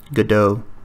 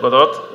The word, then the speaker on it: Godot: Okay, so this is how he pronounces it. Read about the state of Godot, Godot, Godot, Godot.